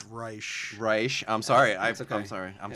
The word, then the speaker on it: Reich: we have with us adam reich pleasure to be here um it's reisch i'm sorry i'm sorry